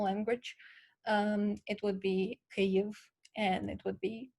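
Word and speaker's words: Kyiv: of all it's pronounced cave in ukrainian and it's spelled um k-y-i-i-v it's not spelled k-i-e-v as most people know that's a wrong spelling that refers to a russian way of saying it and we as ukrainians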